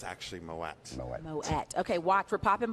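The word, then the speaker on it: Moët: They try to say Moet, but it's actually Moet.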